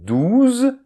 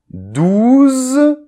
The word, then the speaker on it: douze: So then "douze, douce"; "douze", is the number; "douce", is the adjective. I will repeat, and you repeat after me: , , , .